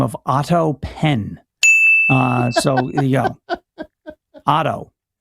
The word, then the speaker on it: Penn: the name of Otto Penn. So there you go. Otto. Was that AUTO or OTTO? Like Otto Graham? OTTO. Oh, yeah. OTTO PENNE, silent E at the end, not Penne.